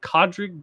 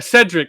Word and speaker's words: Cedric: Is it Is it Codrick Diggory? Is that his name? Character's name? That's not how you pronounce it, but yes. A Cedric.